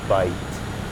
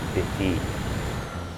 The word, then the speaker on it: bite: Again, silent E comes in. Bite, not bitty. Bite.